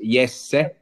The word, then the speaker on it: Jesse: is what okay so my first name is yes so there is that